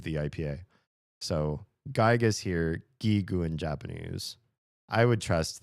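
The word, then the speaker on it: ギーグ: So it's it's hard G's both gigu.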